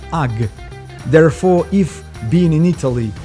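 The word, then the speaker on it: HAG: called with the word hug note that the italians do not pronounce the letter h so it sounds as ugg therefore if being in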